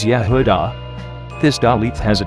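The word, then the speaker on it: יהודה: This is the name Judah, which is Yud He Vav Daleth He, pronounced as Yehudah.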